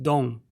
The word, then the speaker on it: Dong: So for respect of him, we still write it TH, but it's pronounced Dong.